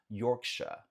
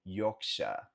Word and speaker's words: Yorkshire: Então, essa cidade aqui falamos Yorkshire, Yorkshire, Yorkshire, Yorkshire. No inglês britânico, Yorkshire. Lembra que esse R no final no inglês britânico eles não pronunciam é realmente aqui, ó.